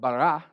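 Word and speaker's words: ברא: As I was studying the word created, it's the Greek word bara, like, get it, bara? Let's say it using a sentence. If you bara my wheelbarrow, you better bring it back.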